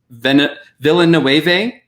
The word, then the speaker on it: Villeneuve: They only wanted to give money for 1 because Villeneuve, that's how you say his name.